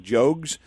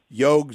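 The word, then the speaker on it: Jogues: Isaac Jogs. And I had to help people understand this can go either way. You can pronounce it a lot of different ways. Yog Jo.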